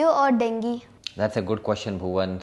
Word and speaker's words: dengue: is it pronounced yes dengue or dengue that's a good question bhuvan so the actual term is dengue not dengue it's better that we call it dengue many people call it dengue and different countries say